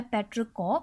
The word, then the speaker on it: petrichor: होती है after rain, तो एग्जैक्ट प्रोनाउंसिएशन उस वर्ड की है पेट्रिकॉ, और एग्जैक्ट वोकैब जो है ये है इंग्लिश की, ओके, पेट्रिकॉ।